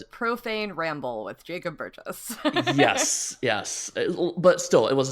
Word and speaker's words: Burgess: Burgess? Yeah, soft G for a soft name.